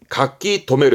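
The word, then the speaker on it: 書留: 발음은 가키토메로 해서 가키토메가 등기, 발음 또한 뜻 또한 명심하세요.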